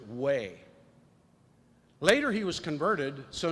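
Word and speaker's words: Wei: name christian and then his last name is w-e-i pronounced way later he was converted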